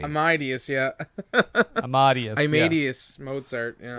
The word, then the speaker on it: Amadeus: Amadeus, yeah. Amadeus. Amadeus Mozart, yeah. Well, because Bruce Willis can't pronounce the name because he's just a dude.